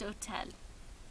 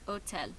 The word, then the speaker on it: hôtel: Pour hôtel, hôtel c'est masculin, c'est singulier, mais ça commence avec un H muet ou un H silent. Alors, ça fonctionne comme une voyelle. Alors, pour ça, je vais mettre cet hôtel.